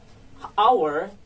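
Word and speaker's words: hour: So it means that our has initial vowel sounds. So our is pronounced our, not ha, because it's pronounced with vowel sounds in the first, so we add an.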